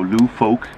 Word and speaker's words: Lufolk: is called Philip blue Falk here in Denmark in Sweden we call it Falk but I think you'll pronounce it folk so Lou folk for you guys but yeah